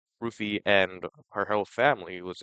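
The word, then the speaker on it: Ruthye: The girl who played Rufy, apparently that's how it's pronounced Rufy.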